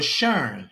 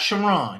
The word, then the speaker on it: Sharon: Now, for Sharon, not Shiron.